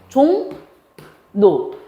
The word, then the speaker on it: 종로: 얘 발음 어떻게 해? 종로. 자, 이 비음의 영향을 받아서 얘가 뭐로 바뀌었어? 비음인 니은으로 바뀌었으니까 비음화에 해당될 거고, 얘 때문에 얘가 바뀌었으니까 방향으로 하면 뭐가 돼?